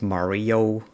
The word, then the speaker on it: Mario: You might pronounce it Mario, like the video game character.